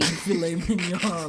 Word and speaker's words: filet mignon: Lord, you're like the meme where it's like when you take your date out and they pronounce the T and the G in filet mignon.